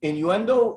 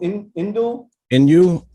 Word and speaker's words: Inoue: How do you pronounce his name? Innuendo? Inoue.